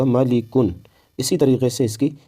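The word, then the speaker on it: مَلِكٌ: طرح کی جائیں گی: میم زبر ما، لام زیر لی، اب دونوں کو ملائیں گے تو ہوگا ملی، پھر کاف دو پیش کن، دونوں کو ملا دیا کن، جب پورے کو ملایا تو ہوگا ملی کن۔ اسی طریقے سے اس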